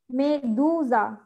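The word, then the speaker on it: medusa: আপু, মেরেন্দা, মেদো মেদোসা, মেদুজা, হ্যাঁ মেদু উচ্চারণ হবে, দ উ দু মেদুজা, মেদুজা, হ্যাঁ মেদুজা, মেন্টা, ব্রাভিসিমা।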